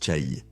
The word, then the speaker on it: Chaï: Je le prononçais comme maison de Z dans ma première vidéo. Après quelques recherches supplémentaires, j'ai réalisé que cela semblait incorrect. Ça se prononce Cha.